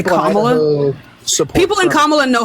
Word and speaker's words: Kamala: it's Kamala Harris. You said it right the first time. Where the fuck is this new pronunciation coming from?